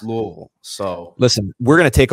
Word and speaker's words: Louisville: said the other day it's it's pronounced Louisville so listen we're gonna